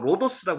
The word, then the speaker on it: 로도스: 도다님은게 입구에 있는 로도라고도 하고 로도스라고 하는데 로도스가 하는게 맞습니다. 이거 발음 영어 발음이 로도스까지 나오거든요.